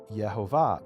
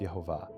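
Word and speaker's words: Yehovah: And he says, "Well, if you pronounce the vowels the way that that it's written, it would be Yhovah, but the Jews say those are the vowels of Adonai."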